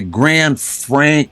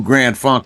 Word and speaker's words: Grand Funk: rubbing off on him he would say Grand Frank Railway or something I mean he never said it right uh but we made